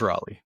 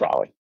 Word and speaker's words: Raleigh: Rally is the correct way to pronounce it. It is Raleigh. Raleigh. It's Raleigh.